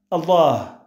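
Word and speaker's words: الله: Et tu remarques que lorsque tu prononces par exemple, lorsque tu dis Allah Akbar, tu remarque que le lom d'Allah est prolongé. Et bien cette prolongation n'est pas matérialisée, elle écrit bien évidemment.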